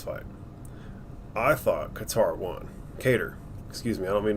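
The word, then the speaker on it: Kattar: So Qatar versus Emmett. I was in the stands. I was at this fight. I thought Qatar won. Cater.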